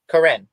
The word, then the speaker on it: Karin: in just a second you were right the first time she says Karin Okay C kin so